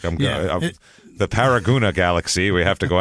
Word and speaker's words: Paragonah: paragona Utah where's paragona it's spelled like paragona but it's said paragona apparently that's what I've